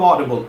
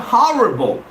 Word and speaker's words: audible: spelling of audible a-u-d-i-b-l-e remember it's audible it's not horrible most of my students get wrong when I pronounce this word is audible they take it as horrible well horrible and audible are two different words there's well the difference